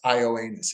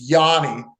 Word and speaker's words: Yanni: they pronounce it no my name is not pronounced ioanus it's Yanni and and so Jesus thank